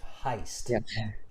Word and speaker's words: heist: word that was mispronounced heist heist repeat after me heist heist yeah it's an i heist money heist okay but